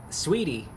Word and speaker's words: Saweetie: The A is silent. Sweetie and sour sauce.